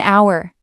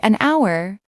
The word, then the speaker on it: hour: An hour. Hour starts with H, but the H is silent. So, the word starts with a vowel sound. That's why we say an hour.